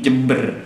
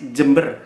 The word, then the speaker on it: Jember: Ini Jember, ada ejaan nama kan Jember pakai DJ kan, Jember.